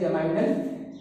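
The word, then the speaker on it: geminal: कौन कौन से, एक होता है जमिनल, या बहुत लोग इसको प्रोनाउंसिएट करते हैं जमाइनल।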